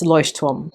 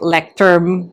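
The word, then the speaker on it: Leuchtturm: So, it's lost tom. In other videos, I've been hearing different people say different things like lect term, loy term, loy term. I think it's because, you know, we're not Germans and we're not studying the language. That's why it's a little bit difficult to pronounce.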